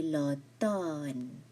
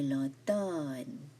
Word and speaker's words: automne: C'est l'automne. The M here is silent. C'est l'automne.